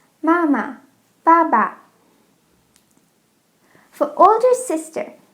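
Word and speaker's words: 妈妈: Mom is very easy. We learned this before. Mama. Mama. Dad is also very easy. Baba. Baba. For all of these, it's the same syllable twice. Mama, Baba.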